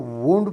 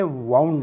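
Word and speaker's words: wound: आपने इस लफ्ज़ को वुंड प्रोनाउंस करना है, वाउंड नहीं, वुंड।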